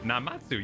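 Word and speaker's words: Namazu: Did I pronounce Namatsu? Is that right? Namatsu, yeah.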